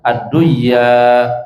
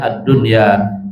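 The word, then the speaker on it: الدنيا: Adapun adunya di sana dalam satu kalimat, maka jangan dibaca adduya, tapi bacanya addunya izhar wajib itu dan satu salat ya.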